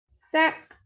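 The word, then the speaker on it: cinq: First is S-I-N-Q, sack. It is ending with Q, so it will be pronounced and the meaning is 5.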